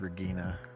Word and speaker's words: Regina: It's spelled like Regina, but it's Regina.